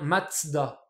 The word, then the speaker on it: Mazda: 7 t donc voilà ça en allemand ça se prononce bien matzda du coup on retrouve